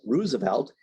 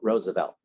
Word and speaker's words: Roosevelt: their names the Roosevelts of Long Island generally pronounced the name as Roosevelt and the uh the uh Roosevelts of the Hudson Valley pronounce it the correct way Roosevelt okay um so that's what we like to